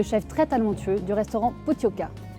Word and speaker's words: Pottoka: très talentueux du restaurant Pooka attention ne pas prononcer potoka comme ça s'écrit parce qu'ici on est au cœur du Pays Basque donc ça rigole pas